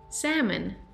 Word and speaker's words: salmon: La L es muda en esta palabra. Es salmon, salmon, salmon. No es salmon, es salmon, salmon. Sin la L, salmon.